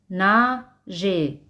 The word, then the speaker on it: nager: Os recuerdo que las letras e y r se pronuncian como e espaola, na je.